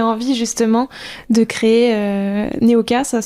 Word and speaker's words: Neoka: Qu'est-ce qui t'a donné envie justement de créer euh Neoka ? Ça se prononce bien comme ça.